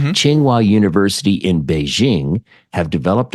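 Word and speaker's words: Tsinghua: I'm saying that correctly it's TS i n g h UA but played it and listened to different ways to pronounce it and it sounds basically like chingua chingua University in Beijing have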